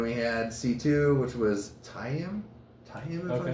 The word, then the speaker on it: Tayam: And then we had C2, which was Tayam? Tayam, am I saying it right? Tayam.